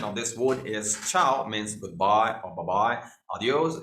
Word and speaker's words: ciao: So ciao, the pronunciation of this word is ciao, means goodbye or bye-bye.